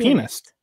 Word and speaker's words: pianist: Penist. A little more emphasis on the A. It's okay. She no, no. Dude, I think it's technically pianist, not piano. Penist. No, it's pianist.